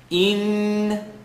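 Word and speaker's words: إِنَّ: Inna. E with the line on the bottom, so alif, line on the bottom, hamza, line on the bottom. Inna, let the sound vibrate in the nasal cavity.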